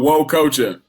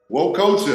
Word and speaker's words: Nwokocha: Nwokocha. Nwokocha. Dan is silent. Nwokocha.